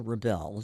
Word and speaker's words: Rebel: the Baroque Ensemble Rebel the accent is on the second syllable is named after French